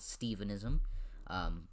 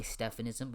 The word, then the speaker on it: Stephenism: It's called Stephenism. Spelled with a PH. Don't say Stephanism, or else you're banned from the religion.